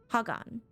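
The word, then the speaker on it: Khagan: a new gone uh Hagan I keep forgetting that the K is silent reminder all will converge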